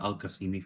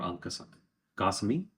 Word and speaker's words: Al Qasimi: family's last name is the Al Qasimi family, or Al Qasimi. That's how they pronounce it here, and it's very very old.